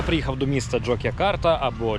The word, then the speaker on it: Джок'якарта: Я приїхав до міста jokя карта або jджа як кажуть місцеві і я досі не розумію чому воно вимовляється як jokя карта коли воно пишеться Ось так каусрфінг тут не спрацював